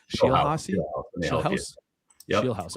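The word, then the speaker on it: Scheelhaase: Uh Nathan, probably pronouncing his name wrong here. Shel House. Okay, there we go. Nathan Shield House Rams uh passing game specialist, offensive assistant, um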